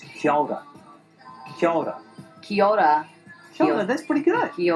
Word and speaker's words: kia ora: It's pronounced kia ora.